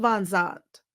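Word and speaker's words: Vanzant: Is, as Avalia Van Zant always says, Ayanna, I mispronounced her name. Ayanna Van Zant says, you got to call a thing a thing.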